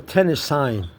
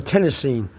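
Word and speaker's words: tennessine: Capital T and a small S is for tennis sign or tennisine depends how you want to pronounce it.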